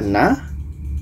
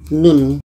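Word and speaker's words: ن: alqalam ayat 1 Apakah ini dibaca Na bukan jadi kita kembalikan kepada bentuk asalnya yaitu it na ini dibaca mengikut ejaan huruf hijaiah yaitunya nun nah dibaca Nun bukan Na dan Nun ini dikarenakan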